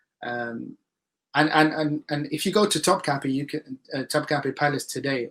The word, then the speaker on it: Topkapı: can Topkapi Palace today, or Topkapı if you want to pronounce it properly. I got corrected for that once when I was in Turkey, so I should say it properly.